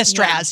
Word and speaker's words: Straz: So this Saturday, I'm going to be at, I want to pronounce this right. It is the Straz Theater, right? The Straz, yes.